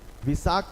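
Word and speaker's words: Wesak: name of the festival see how it is pronounced Visa w-e-s-c-a-k visakh Festival is celebrated to Mark the birth of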